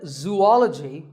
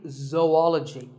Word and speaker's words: zoology: do you say it if you said zoology it's actually wrong that is a very common mispronunciation this is actually zoology zoo and ecology zoology number 42 is develop